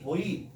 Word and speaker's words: buoy: boy, B-U-O-Y 우리가 V, boy 두 개 다 발음할 수 있는데 이게 뭐냐면 부표라는 거야.